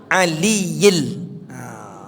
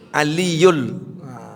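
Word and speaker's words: العليِّ: Ah, ini juga hati-hati bacanya. La haula wala quwwata illa billahil aliyil. Tapi masih banyak yang membaca aliyul. Gak boleh. Lain lagi artinya tuh. Karena ada bi. Bi itu dalam bahasa Arab huruf jar. Huruf jar itu mematikan meletakkan baris kasrah. Ah billahi billahil aliyil adzim. Yang aliyul itu adalah ayat kursi. Wahuwal aliyul azim.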